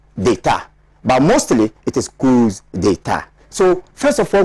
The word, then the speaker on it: coups: The plural form of coup is coups, right? The S is there, but phonetically, the S is not pronounced as Ed, it's pronounced as Z.